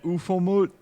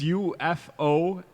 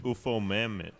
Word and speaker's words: Ufomammut: And then Ufomut. What? What? It's UFOMAMMUT. UFO Mammoth.